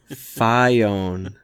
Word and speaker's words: Phione: you on it because no it's pronounced phione it's it's like FiOS it's phione you it's hey patty